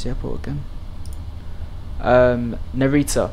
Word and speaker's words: Narita: there we are welcome to how do you pronounce the airport again um narita narita airport where it's currently showering with some stormy